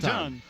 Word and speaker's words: Ton: Tom or Ton? Ton, as in ton. Only they pronounce it ton. Hey. As in 2,000 pounds, 2,000 pounds?